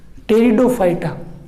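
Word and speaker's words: Pteridophyta: नहीं बोलना इसको test PTRI DOP एपीआर 25th टेरिडोफाइटा इन अधिक पाई जाती जड़ तना पत्ती जो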